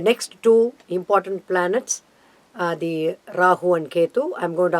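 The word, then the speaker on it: राहु: Randall, for Rahu and Ketu. Rahu, Ketu. Rahu. Rahu. That's a correct pronunciation. Okay. Ra, it's a dirgha letter, what we call the long letter.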